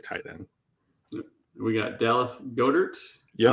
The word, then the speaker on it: Goedert: We got Dallas Goedert. Yep. I don't know if I pronounced that right. Got it. Yep. Silent E. Silent E.